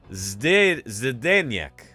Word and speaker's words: Zdeněk: It's pronounced something like Zdeněk.